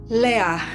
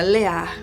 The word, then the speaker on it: Leah: Leá. Por isso, desse nome dela, a gente pronunciar o nome dela com esse alívio, essa coisa mais prolongada, Leá.